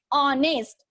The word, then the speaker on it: honest: That is honest. Oh, yes, there is a pronunciation. First sound of this word honest is O.